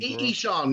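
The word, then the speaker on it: Ihsahn: Ishan, yeah, from Emperor.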